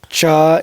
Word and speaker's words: chai: So like everybody says cha in like Gujarat, I would say, and every place else is chai.